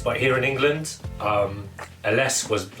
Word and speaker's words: Ellesse: to me written a nostalgic company brand uh ls that's how you pronounce it it is an italian company and